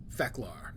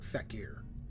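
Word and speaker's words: Fek'lhr: when I was playing they pronounced it as fecalar and feklari and I know from the show which as far as I know the origin of fecalar it was pronounced fecalar not feckier but you are entirely correct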